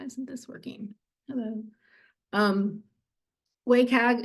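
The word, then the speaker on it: WCAG: this working hello um wayag is how I pronounce it everybody else pronounces it probably different is with the new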